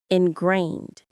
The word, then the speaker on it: ingrained: Ingrained. The stress is on that second part. Grained. It sounds just like it's spelled. Inrained.